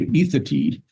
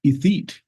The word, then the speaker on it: Ethete: I mean, we have a town near us in Lander called Ethatee, but anybody looking at it would think Ethete.